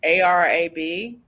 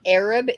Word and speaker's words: Arab: Alabama can't pronounce like a r a b yeah it's not Arab it's Arab okay kind of like